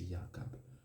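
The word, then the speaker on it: Yaakov: nous une autre retraite véritable prononciation c'est yaakob donc c'est qui est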